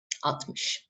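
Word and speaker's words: altmış: 40 50 atmosh 60 don't forget that we write is write it mostly as atmos but we don't pronounce the el atmish yet mish 70 sexan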